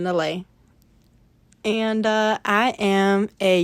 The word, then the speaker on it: Neleh: is my artist name that's Helen Helen backwards pronounced Helen laay and uh I am